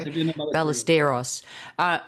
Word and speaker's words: Ballesteros: So I know that you were mentored by the legendary Sev Ballesteros. Is that how I pronounce it? Yeah. There you go, Ballesteros.